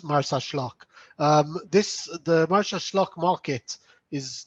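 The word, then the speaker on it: Marsaxlokk: of yeah it's it's martha schlock the x in maltese is pronounced as sh so it's martha schlock this the merchant market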